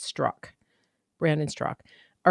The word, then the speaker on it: Straka: So it's Straka, but it's pronounced Strock.